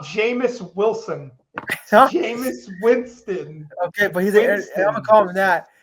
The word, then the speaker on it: Jameis Winston: You're telling me a guy, James Wilson, I don't know how to say his name. I don't even know how to say this guy's name no more because Jameis Winston.